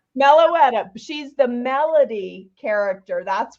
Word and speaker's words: Meloetta: Meloetta. Meloetta. She's the melody character. That's what she is. I looked her up last night. Yeah. So Meloetta.